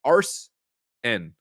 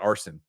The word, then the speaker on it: Arsen: Greg, it's arsen, not arson. Unless we're burning down Arsen.